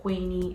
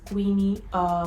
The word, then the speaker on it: Queny: That is how you pronounce it. It's not Queny, it's Queny.